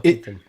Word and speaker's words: Keaton: Mikael Keaton. It's Keaton, but like you don't really put the emphasis on the O.